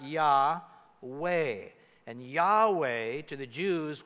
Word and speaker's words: Yahweh: So you throw a few vowels in so you can pronounce it, and it comes out Yahweh.